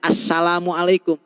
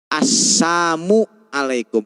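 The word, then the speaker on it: السام عليكم: mengucapkan salam kepada mereka jangan bacanya Assalamualaikum tapi asamamualaikum lamnya lnya dihilangkan asamual alaikum gitu Ini ini aturan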